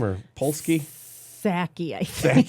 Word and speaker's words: Psaki: The former press secretary, Pulaski is her name, or Polsky? Psaki, I think. Psaki? Pulaski. The P is silent.